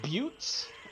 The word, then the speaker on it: Butte: That's how it's pronounced. Is it Buttes?